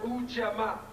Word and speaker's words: Ujamaa: We have, it's pronounced Ujamaa.